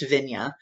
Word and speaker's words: Vigna: Vig and vigna here even though it begins with a W it's still have been pronounced vigna and here we have